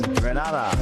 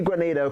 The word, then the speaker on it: Grenada: So today, like we Germans say, we are in Grenada. But I heard in English it's called Grenada. Say it right. Grenada. Say it right. Grenada. That's right. Grenada. There we go. Say it right. It's Grenada. It's not Grenada. It's Grenada.